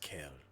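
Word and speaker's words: Kael: do you spell that kale with a K and the A and the E and the L Ah that's nice like a kale salad like a kale salad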